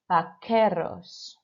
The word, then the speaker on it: vaqueros: Unos vaqueros. Okay, so I don't want to hear that qu sound. It's got to sound like a K-E sound.